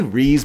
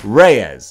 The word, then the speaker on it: Reyes: Riaz Reyes Reyes I I say Reeves because when I was a dumbass kid reading it in the 90s I didn't know how to pronounce these kind of names so now that I'm an adult it's still locked in there Cecilia Reyes there you go anyway I was talking